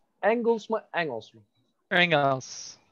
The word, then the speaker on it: Engels: Hier spricht man Turks and Angles. Engels mı? Engels mı? Engels. Engels.